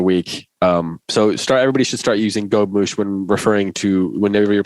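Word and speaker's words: gobemouche: I just clicked on a thing that says pronunciation, and it says gobmouche.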